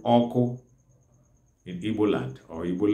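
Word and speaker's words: ọkụ: The fire itself is called oko in Igbo land or Igbo language.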